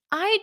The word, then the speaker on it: I'd: So notice that D is almost not pronounced when you say it in spoken English.